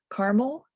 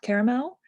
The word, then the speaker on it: caramel: think was incorrect like how i pronounce carmel not caramel and also that i